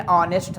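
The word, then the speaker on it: honest: Silent है। तो क्या यूज़ हुआ? An hour. An ऑनेस्ट मैन, एक ईमानदार आदमी।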